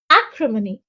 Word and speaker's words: acrimony: Acrimony. The stress is on the first syllable, and acrimony is a noun which means bitterness, sharpness, or harshness of speech, manner, or temper.